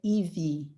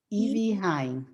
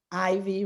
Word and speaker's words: Ivie: brazil yes and then in brazil we say evie evie but um here everybody says like ivy rain and that's okay no problem well i don't want to butcher your name so evie okay very good you're